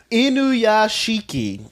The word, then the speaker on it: Inuyashiki: All right, so Inuyashiki, which I think is how you pronounce it.